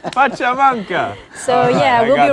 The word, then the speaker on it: pachamanca: about the pancha mancha but for the next pachamanga pachamanca so yeah we'll be right back to talk